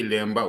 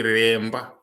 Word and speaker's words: Remba: And we also don't say Lemba, we say Remba. It's the Swahili people who said Lemba because they could not say Remba.